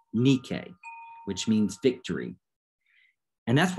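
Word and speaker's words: Νίκη: word nike is interesting it's actually a mispronunciation of the greek word nikkei which means victory and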